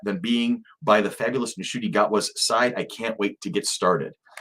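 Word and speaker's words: Ncuti Gatwa: There's Nishuti Gatwa. The N is almost unpronounced. Nishuti Gatwa.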